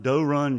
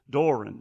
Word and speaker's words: Doe Run: Well, I the the the guys that build them, they're from they build them in Doe Run Doe Run, Georgia. Doran Doran, anyway.